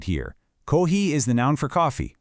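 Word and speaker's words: コーヒー: Make sure you stretch out those long vowel sounds to really nail the pronunciation right. Kohi, then pair it with the action, nomu.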